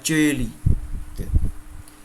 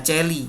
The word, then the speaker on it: Coeli: Kalau ada C diikuti dengan E, AE atau OE atau L atau Y dibaca C. Celum, Regina Coeli. Bukan Regina Celli, enggak, Regina Celli.